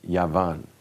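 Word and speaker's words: יוון: It's Yavan. Yavan. Okay, it's spelled Yavan.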